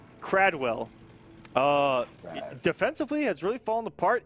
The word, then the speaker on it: Kradwell: And confirmation from some admins, Kradwell is the actual... That's what I thought. Is the actual correct pronunciation. Kradwell rolls off the tongue a little bit easier, but Kradwell.